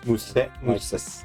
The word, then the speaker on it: mousse: Mousse. Like the chocolate. Mousse. You don't pronounce that mousse? No. You don't pronounce it mousse? It's French, not Spanish.